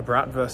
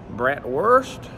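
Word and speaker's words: Bratwurst: lunch before starting the tour had a a brat verse sausage cuz I thought well when in Rome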